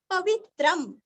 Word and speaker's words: पवित्रं: का उच्चारण आधा म, पवित्रम, पवित्रम, अनुस्वार का उच्चारण आधा म, यो मंगलानान, मंगल शब्द